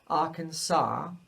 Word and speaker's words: Arkansas: i moved to arkansas so it's not arkansas arkansas so it rhymes with ma you can tell your